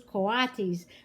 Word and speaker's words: coatis: These are coatis, Mrs. Brisbane said, reading from the letter, pronounced coatis.